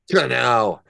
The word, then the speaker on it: Kinell: You gotta say Kinell.